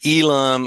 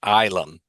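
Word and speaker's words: Ylum: I would have been saying Elam or something like that, but it's pronounced Ilum.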